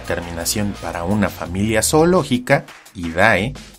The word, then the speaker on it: idae: para una familia zoológica, Idae, recuerden que se pronuncia Ide, más el género Canis.